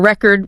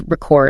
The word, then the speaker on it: record: Same letters, totally different words signaled just by that stress shift or record versus record. A noun versus the verb again.